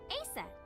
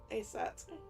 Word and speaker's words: Aset: named Isis yes but in ancient Egyptian it's pronounced closer to ISA or ASA from Iris to Isis to aset how do I explain this horus's father's